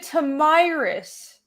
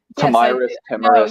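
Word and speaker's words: Tomyris: pronouncing it Tomyrus. Timurus.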